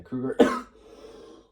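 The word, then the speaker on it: Kruger: and written by Ean cougar spel the name is spelled e HR n um and then just uh last name Krueger say Krueger akan krger Aran Krueger Roberto orsy and Alex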